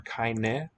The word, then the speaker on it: keine: Whenever you hear that I, 9 times out of 10, it's going to be written EI. Keine. That final E, which would be a silent letter in English, is sounded in German always.